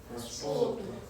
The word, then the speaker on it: パスポート: Alright, so the U is silent, of course. Of course, the first time when I say it, I purposely put the パスポート, but actually the U is silent. So we just say パスポート.